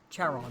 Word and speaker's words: Charon: Your pronunciation, that's driving me nuts. Charon.